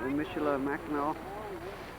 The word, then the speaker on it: Michilimackinac: How do you pronounce the name of that fort? Michilimackinac. Michilimackinac.